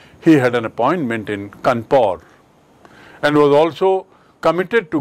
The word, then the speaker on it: Kanpur: Dekhiye Kanpur ki spelling aur iska uchcharan bhi Kanpur. Why? Because British people cannot pronounce Kanpur.